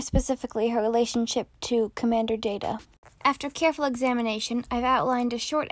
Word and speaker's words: Data: It is pronounced Data. Oh? You called me Data. What's the difference? One is my name. The other is not.